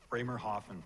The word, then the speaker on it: Bremerhaven: How do you pronounce that? Bremerhaven, thank you, to a new life in Canada,